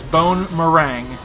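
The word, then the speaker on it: Bonemerang: and for the record his attack is called bone meringue all right everyone mispronounces that it's bone meringue there we go oh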